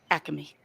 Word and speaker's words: Acme: Dave you're right it is Acme it is pronounced Acme that's why I forgot you're a Philly boy